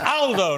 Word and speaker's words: Aldo: picked me up but it's Aldo not older Aldo's a very British